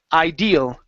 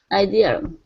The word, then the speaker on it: ideal: is the word IDE the stress is at the end of the word ideal ideal okay so a quiet